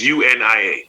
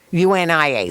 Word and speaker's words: UNIA: Oh, no, it's an acronym. It's UNIA. UNIA, so say it that way.